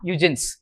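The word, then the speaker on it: Huygens: very secretively just write down that name John eugin H u g ye NS okay John eugin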